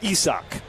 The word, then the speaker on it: Isaac: Spelled like the English word Isaac. As in Isaac Collins. Spelled the same way, but this guy's Isaac.